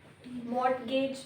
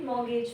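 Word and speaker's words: mortgage: साथ ट्रेजडी हो गई मॉर्गेज बी ए इट्स ए मट गेज नहीं पढ़ते मॉर्गेज पढ़ते सर्वेयस यू आर अंडर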